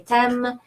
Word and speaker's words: t'aime: AI is a rule of pronunciation in French. It's pronounced E, like in the English word egg. And M, the E at the end also can be pronounced if you really enunciate it. And if you don't, you can say t'aime.